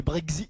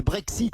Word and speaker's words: Brexit: Pourquoi tu remplaces le X par le Z, toi? C'est-à-dire? C'est pas le Brexit, c'est le Brexit.